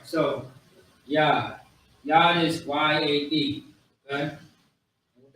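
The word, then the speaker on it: יד: All right, the Hebrew word is Yad. Yad. Y-A-D. Yad. It's not Yad, it's Yad. The Ya, so Yad. That's how you pronounce it.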